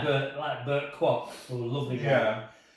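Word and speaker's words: Burt Kwouk: And Bert just said, "My name's Bert Kwok. It rhymes with clock."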